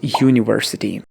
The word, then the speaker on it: university: Now here the sound is university, and if you look closely you will understand that the word starts like Y.